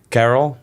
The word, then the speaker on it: Karel: So my name is Karel. It's the easiest way to pronounce it in English.